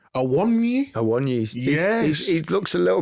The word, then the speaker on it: Awoniyi: How do you pronounce his name? Awoniyi? Awoniyi.